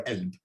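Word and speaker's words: قلب: So you get to this example, this word, qalb, which means heart, could be pronounced qalb, galb, or elb, depending on where you are.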